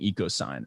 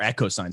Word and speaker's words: EchoSign: obviously your experience building eco sign or echo sign sorry i realized i said it wrong on brendan's episode a million